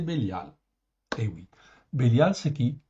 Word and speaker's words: Bélial: dans 26 versets ok en hébreu phonétiquement ça s'écrit comme ça béliiaal ok c'est Bélial et oui Bélial c'est